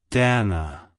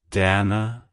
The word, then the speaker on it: Danna: origin it's pronounced as Dana Dana Dana to pronounce it correctly emphasize the first syllable d a and lightly pronounce the second syllable Ana like hello Dana goodbye